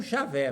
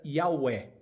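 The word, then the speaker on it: Yahweh: O J com som de I e o W com som de V, que dá não javé, mas yaé. Então, mais provavelmente a pronúncia correta seria Yahué.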